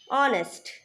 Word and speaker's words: honest: Next point, an is used before a word which begins with a silent H. An or, an honor, an honest.